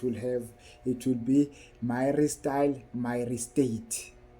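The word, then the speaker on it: myristyl myristate: sunen product it will have it will be my style myate it's my style myate let me spell it for you guys it's m y r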